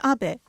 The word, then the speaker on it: Abe: My name is Abe, but in the United States, some people mistakenly pronounce my name as Abe, but that is not